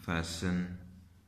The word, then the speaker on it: fasten: LISTEN कर देते हैं, जिस तरह FASTEN, फैशन, FAS बांधना जिसे कहते हैं फैशन।